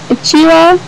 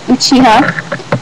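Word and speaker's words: うちわ: Uchiwa is like Uchiha, which is not the way to pronounce Uchiwa.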